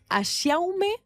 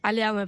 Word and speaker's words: Aliaume: A ver cómo se pronuncia tu apellido. Es Aume o Aliaume? Aliaume.